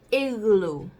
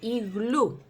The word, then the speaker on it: igloo: En español se dice igloo. Si como bien ven, se parece bastante como lo decimos en español. Nada más que nosotros ponemos el acento en la última sílaba, que es la U. Igloo. Pero en inglés es igloo. Las últimas sílabas se sienten como que son más largas, por eso dice igloo. Igloo.